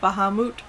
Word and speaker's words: Bahamut: like the Bahamas but instead of ma you make moot or mut or whatever Bahamut there you go there's no extra tea in there okay thank you all right so I finally learned how to say it it's just the Bahamas with mute character development anyway um